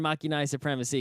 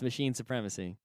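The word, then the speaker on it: Machinae Supremacy: It is a new album from Machine Supremacy, and I like to pronounce the name of their band Machina Supremacy because that's how it's spelled, even though technically it's Machine Supremacy.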